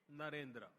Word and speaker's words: Narendra: I said that their name, Devendra, rhymes with my own name, Narendra.